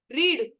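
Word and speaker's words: read: या डज नहीं आएगा रीड रेड रेड correct रेड रेड रीड रेड रेड bus pronunciation अलग है स्पेलिंग सेम है करेक्ट ओके आई अंडरस्टूड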